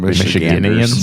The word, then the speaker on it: Michigander: Michiganders.